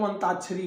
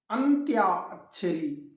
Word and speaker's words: अंत्याक्षरी: हम कहते हैं चलो अंताक्षरी हो जाए। अंताक्षरी नहीं, अंत्याक्षरी, अंत्याक्षरी अर्थात जो कोई शब्द